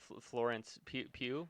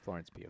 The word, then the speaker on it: Florence Pugh: Florence Pugh is how you Yeah. say her name. Florence Pugh.